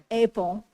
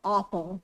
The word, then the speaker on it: Oppel: You probably recognize the name Apel or Opel is the German pronunciation.